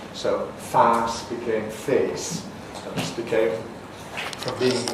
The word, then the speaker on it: face: The modern French pronunciation of that would be face.